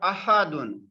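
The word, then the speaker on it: أحد: But ahadun, ahadun, this is Hamzatul Qat'i. We cannot skip it. We must have to pronounce this Hamza.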